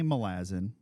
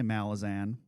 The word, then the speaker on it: Malazan: We'll start with the pronunciation. So I say Malazin because it's it's a adjective. The noun is Malaz or Malaz because it's a island in the in the world. Some people say Malazan.